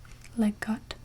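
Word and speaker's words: Leg godt: I think it's pronounced Leggot. It's spelled L-E-G space G-O-D-D, Leggot, or something.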